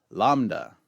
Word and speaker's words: lambda: nevertheless this is Kappa lambda lambda makes an L sound as in the word lamb however you pronounce your